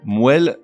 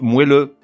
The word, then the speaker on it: moelle: Moelle et son adjectif moelleux. Non, on dit moelle, la moelle épinière, et donc on dit moelleux.